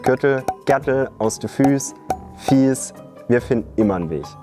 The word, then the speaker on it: Fieß: prick aus dem kürttel gtel aus der Füß fies wir finden immer ein Weg und was sagst